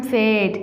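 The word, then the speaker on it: fade: इसे हम फेड. इसमें भी ई साइलेंट है और ए लंबी आवाज़ देता है जैसा कि एड. एड.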